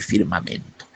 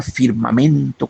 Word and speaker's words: firmamento: No sé ni por dónde la rima firmamento con sacramentos. Hermosísima, ¿verdad? Firmamento, sacramento, porque son palabras de cuatro sílabas con acento en la segunda, perdón, en la tercera.